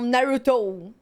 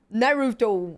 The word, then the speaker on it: Naruto: Que eles falam Naruto. Naruto. Nossa. Não dá, véi. Cara, eu sei que é difícil pra você pronunciar o R como Naruto.